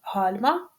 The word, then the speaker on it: гальма: гальма така ж історія Зверніть увагу на склади куди падає наголос перший склад гальма і останній другий склад граблі проводимо тестове опитування форму